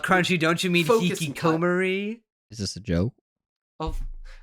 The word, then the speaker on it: hikikomori: The hikikomori stuff could have been handled better too. You could have placed more emphasis on that. Maybe have it like Crunchy. Don't you mean hikikomori?